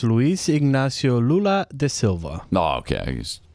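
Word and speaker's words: Luiz Inácio Lula da Silva: And by the way, you guys are saying his name wrong. It's Luis Ignacio Lula de Silva.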